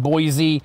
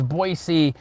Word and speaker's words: Boise: it okay so the californians are calling it boise but it's boise and there's a lot of amazing opportunity here